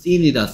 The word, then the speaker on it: thin: 그리고 얘 발음은 thin이다, thin. Thin. Thin. Thin. 드뜨 중에서 쓰 됐다, 쓰. Thin. Thin. Thin. Thin. Thin. Thin. 왜 혀를 안 물어?